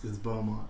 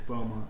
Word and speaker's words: Beaumont: boom Beaumont Texas salmet Beaumont I thought it was brown do you want but my mom corrected me it's ba ma ba my house but if you look at it it looks like you pronouncing you mommy it's boma you think you're gonna